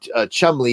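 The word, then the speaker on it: Cholmondeley: guy said Mandalay and if you spell it out you know Chumley is it spelled the way it sounds it looks more like CH Mand I was like stop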